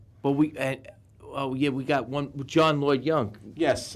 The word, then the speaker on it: John Lloyd Young: John Lloyd Young.